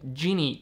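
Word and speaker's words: Gini: subjective thing there is a concept called the genie coefficient i believe it's spelled g-i-n-i which is just a way of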